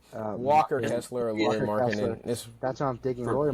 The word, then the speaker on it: Markkanen: It's because like I phonetically remember how to spell it, like Markkanen because I remember like the 2K.